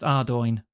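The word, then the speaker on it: Ardougne: Okay, that one slips up most people. That is pronounced Ardoin.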